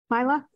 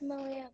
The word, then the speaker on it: Malia: Did I pronounce her name right? Mila? It's Malia, but I have a question.